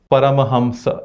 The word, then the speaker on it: Paramahamsa: And then the pronunciation of Anuswara is also wrong.